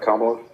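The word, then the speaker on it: Kamala: Do you do you think that there's a a specific causality between the countries that um Kamla and that's how you say her name, right? Kamla.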